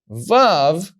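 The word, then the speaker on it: ו: you know it's above so Zion you pronounce za VAV you pronounce VA okay now we look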